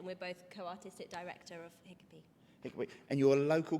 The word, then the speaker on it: Hikapee: the wonderful Horton Centre, and I've been joined by Hiccupy. Did I pronounce that correctly?